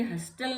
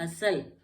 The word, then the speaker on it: hustle: तो ये ब्रिसल, HUSTLE, फिर L से पहले T है, फिर ये हस्टल नहीं होगा, ये होगा हसल, हसल, T साइलेंट हो गया इसमें भी।